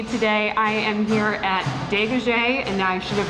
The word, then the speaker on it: Degaje: for joining me today i am here at de gaje and now i should have asked you instead of pronouncing your last name no it's perfect is